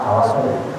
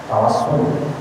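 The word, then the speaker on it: توسل: Tawassul itu bisa dibaca dengan shad, tawassul, pakai shad, tawassul. Tawassul itu menjadikan sesuatu perantara yang menyampaikan antara sesuatu dengan sesuatu yang lain. Tawassul. Kemudian orang membacanya dengan sin, tawassul.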